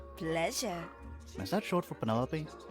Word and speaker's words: Penelope: Is that short for Penelope? Officially, yes, but I never can be bothered with all 4 syllables of it. Penelope sounds a little ostentatious coming 귀여운데, out the mouth, Penelope.